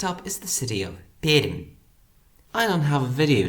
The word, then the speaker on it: Perm: The name isn’t particularly interesting, though I guess locals pronounce it with more palatalisation than other Russian speakers.